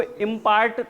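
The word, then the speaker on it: impart: टू इम्पार्ट public speaking skill, इसको इम्पार्ट बिल्कुल ना पढ़िएगा आप, इसको इम्पार्ट पढ़िएगा, यानी हल्का सा ठा प्रोनाउंस करना है टी को।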